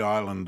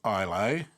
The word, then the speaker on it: Islay: I'll probably never go back to the island of Islay, and one of my viewers, Anthony, has corrected my pronunciation. It should be Isla, but I'm Australian, and I say it how it looks.